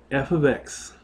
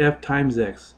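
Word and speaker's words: f(x): the same time so function notation looks like this F ofx this is function notation and that's how you say it f ofx so right here that's your function notation you have it's not f * X it's F ofx okay so for example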